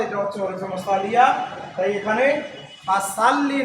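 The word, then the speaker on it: فَصَلِّ: পাও কাউ পরে আসো ফাসাল্লি ফাসাল্লি এখানে আমাদের যেটা ভুল হয় ফাসাল্লি ফাসাল্লি একটা হচ্ছে সিন আরেকটা সদ সিন যখন হবে সিন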